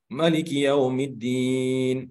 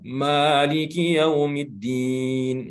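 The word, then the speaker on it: مَالِكِ يَوْمِ الدِّينِ: Maliki Yaumiddin tidak dipanjangkan ma-nya. Nah, itu mungkin dia membaca dengan Al-Quran riwayat Warash. Tapi karena kita di Indonesia, di Asia Tenggara rata-rata membaca Al-Quran dengan riwayat Hafaz, maka membacanya dengan panjang.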